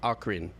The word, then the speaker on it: Ocarina: Hard O, hard C, Ocarina.